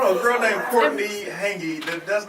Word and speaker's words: Hanggi: And my name is Courtney Hangy, and my Instagram name is just my name, Courtney Alright.